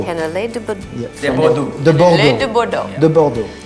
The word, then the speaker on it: cannelé de Bordeaux: How do you pronounce it again? It's cannelé de Bordeaux. Cannelé de Bordeaux.